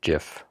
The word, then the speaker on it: GIF: is it just me I believe it's pronounced Jiff yeah if you want